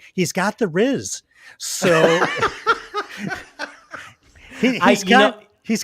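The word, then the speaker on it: rizz: from this newest generation it is the middle syllable of the word charisma ma but sort of with two Z's instead of an S wow I you're this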